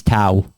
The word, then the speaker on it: Tao: In this one, it was, my name's Tao.